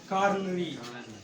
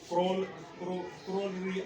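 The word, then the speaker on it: coronary: Oxygenated blood, जिसको हम कॉरोनरी या कोरोनरी आर्टरीज भी इनको नाम देते हैं। कुछ लोग इस तरह वर्ड की प्रोनाउंसिएशन करते हैं, लेकिन कॉरोनरी आर्टरीज।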